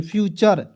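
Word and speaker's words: future: लेक्चर ठीक है ना एफ यू टी यू आर ई फ्यूचर footer नहीं पढ़ेंगे फ्यूचर ठीक है य देखिए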